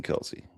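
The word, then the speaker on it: Kelce: I need Jason Kelsey. God, dude. I need a Jason Kelsey special. It's pronounced Kels.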